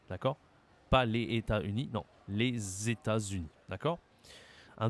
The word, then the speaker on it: les États-Unis: les États-Unis les États-Unis attention ici à la prononciation tu as une liaison entre le premier mot et le deuxème les alors entre l'article le premier mot et le deuxème les États-Unis les États-Unis il faut bien que